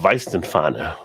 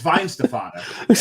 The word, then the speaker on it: Weihenstephaner: Oh, Weizenfahner. Weihenstephaner. It's the second syllable that'll get you. The second one. And the thing is, the key is to gloss over it. It's Weihenstephaner.